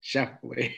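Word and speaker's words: Schauffele: Shoffley.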